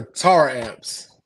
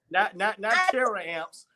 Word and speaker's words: Taramps: It is Taramps. Okay, Taramps. Not Taramps. I, terror amps. Not that's terror. what I call We don't believe in terror or it. Right. terrorists. So Taramps. it's pronounced Taramps.